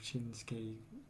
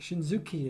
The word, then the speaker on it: Shinsuke: Like it varies between things like Shinsuke. You could probably. I know people probably think Shinzuki if they look at the name. Yeah. That's how I used to pronounce Japanese names before I understood the pronunciation.